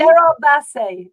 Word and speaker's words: Gerard Basset: This little American woman's having some trouble with the pronunciation over here. Great. Gerard, is it Gerard Basset? Gerard Basset.